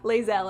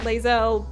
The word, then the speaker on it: Lae'zel: character whose name I never remember how to pronounce. Chat, save me. But the 3 of you escape. Lae'zel, cannot take hints. Lae'zel, I think is how we say her name.